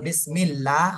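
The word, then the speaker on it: بِسْمِ اللّٰهِ: মিম লাম জের মিল বিসমিল লাম খাবার লা বিসমিল্লাহ লা হা জের হি বিসমিল্লাহি বিসমিল্লাহি লা ল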